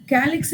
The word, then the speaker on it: calyx: அதனால் கேலிக்ஸுங்கிறது ப்ரொனவுன்ஸ் பண்ணுறது வந்து கே மாதிரி சவுண்ட் ஆகிறதுனால we take it ஆஸ் கே.